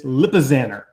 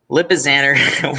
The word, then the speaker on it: Lipizzaner: was saying it but it's lipizzaner it's like a little banner stallion scheme lipizzaner wait was that like